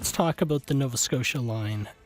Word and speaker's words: Nova Scotia: And I liked being able to pronounce Nova Scotia, but the accent I put on the first syllable so that it would rhyme. Nova Scotia, Saratoga, Saratoga. But I always like to